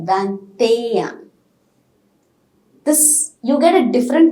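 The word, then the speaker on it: vingt-et-un: pronunciation rule okay so in this place we are pronouncing t in the word of that that's it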